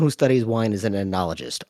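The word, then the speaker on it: oenologist: So like a someone who studies wine is an anologist. O E N O L O G I S T. They're an an but it's pronounced anologist.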